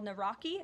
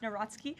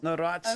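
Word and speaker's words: Nawrocki: He met with Carol Naraki, if I'm pronouncing that correctly. Yes, Natsky. Uh Natski.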